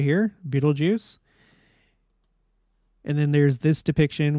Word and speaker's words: Betelgeuse: of the star is Beetlejuice and yes it is pronounced Beetle Juice according to Miriam Webster and other sources and uh you may